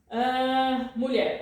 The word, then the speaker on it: mulher: You see here, LH. How do you pronounce that? You pronounce like in million, alright? So, LH, like here, right? In million. The same sound, alright? So, mulher, alright.